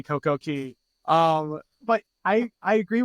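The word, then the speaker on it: CocoCay: and just a just a note we say CoCo Key because right when we started saying Coco k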